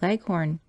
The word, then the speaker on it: Leghorn: shanghai's and the white leghorn when she pronounces this word leaves out the h embarrassing heavily on the last syllable so that it rhymes with begone as i was sitting